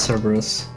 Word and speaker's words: Cerberus: Or Cerberus, the thing I never know how to pronounce actually. It's Cerberus.